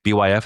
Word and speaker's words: Byf: You go to Byf, B Y F, is that how you say his name?